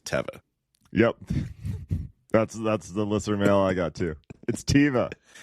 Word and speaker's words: Teva: just so everybody knows, it is Teva. It's not. I mean, it doesn't matter. Like, no, if I know. I get it. This is a Hebrew word. It is Teva. However, everyone pronounces it Teva.